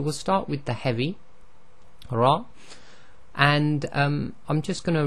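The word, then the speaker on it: ر: So the Ra is pronounced by taking literally the underneath of the very tip of your tongue and touching it to the front hard palate in your mouth.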